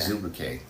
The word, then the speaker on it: Azubuike: I can't pronounce this word. What is the name of it? Azubuike.